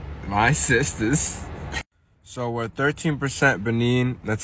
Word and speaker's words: Benin: So we're 13% Benin. That's how you pronounce it in English.